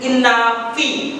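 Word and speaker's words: Innaphi: Pronounce it properly with me. Phanek, P-H-A-N-E-K. Phanek and Inafi.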